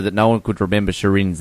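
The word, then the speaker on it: Shirin: can't figure out sh it's two syllables both of which are pretty easy it's not like her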